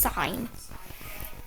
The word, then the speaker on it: sin: It's spelled s i n, but it's pronounced sign.